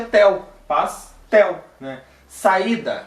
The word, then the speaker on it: saída: Saída, a sílaba mais forte é aquele I do meio, saída, né?